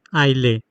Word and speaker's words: aisle: AISLE, आइले, आइले बोलते हैं इसको। ए और एस इसमें साइलेंट है।